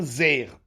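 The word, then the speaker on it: זֵר: Rabbi Yochanan Ramé, Rabbi Yochanan oppose Ketiv Zar Vekarinan Zer. Alors, ça s'écrit comme le mot Zar, qui veut dire étranger, mais on le lit Zer, comme s'il y avait un Yud.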